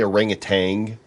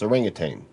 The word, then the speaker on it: orangutan: There is the solar climbing orangutan. Listening to the Orangutan? radio the other day, and people say orangutan, like there's a G at the Yeah. end. It's orangutan. There's no G.